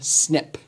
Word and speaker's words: SNP: we abbreviate this snp but we also pronounce this one snip snps and again snips